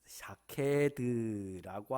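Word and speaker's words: שָׁקֵד: 샤케드라고 하는 말은 깨우다라고 하는 말과 발음이 똑같아요.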